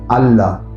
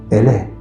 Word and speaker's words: Allah: En árabe, andalusí, la A se pronunciaba como si fuera una E. Por eso no digan Allah, digan Ele.